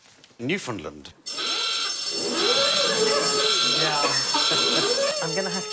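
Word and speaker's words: Newfoundland: on this show um Newland is the correct pronunciation and in 1876 a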